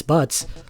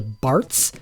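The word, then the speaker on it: バッツ: main character's Japanese name is butts it it's spelled with a z but yeah it it's butts the English version changed this to Barts and there are fans who get unironically upset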